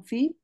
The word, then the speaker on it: fils: Le père est moins bavard que son fils. Ok, très bien, et moins bavard que son fils. Très bien. Dans ce cas-là, oui, on va prononcer le S, mais pas le L.